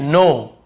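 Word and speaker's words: knee: नो, इसे नाउ नहीं पढ़ेंगे, ठीक है, नो, नो भी नहीं, नो यानी जानने वाला नो है।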